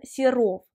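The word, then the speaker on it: Serov: a été fait par valentine siro valentine siro ça serait la prononciation et russes si je prononce à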